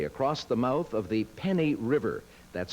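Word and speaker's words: Feni: These people are carrying jute bags filled with clay across the mouth of the Penny River, that's spelled F-E-N-I, at low tide to construct a dam.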